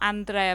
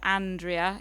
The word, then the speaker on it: Andrea: letter from Andrea Farrell it's not Andrea but Andrea in English and it's a woman actually Andrea is the name of a woman in uh in England